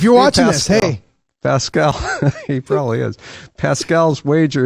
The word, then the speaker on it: Pascal: But Pasquale's wager is Pascal. Is somebody Pascal. It's spelled so similar, right? Just a U out.